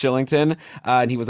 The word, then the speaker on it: Kylington: guy whose name is spelled kylington but it's actually pronounced shillington and he was like